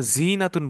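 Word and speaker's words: زينة: জিনা, যখন আমরা জিনাতুন বলতেছি ইয়াটা মাঝখানে টান দিচ্ছি, এই যে জিনাতুন, যেহেতু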